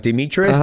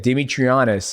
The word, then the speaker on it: Demetrious: Even people get my name like Demetrious. They say, like, I went to the airport and they said Demetrianus, and I was like,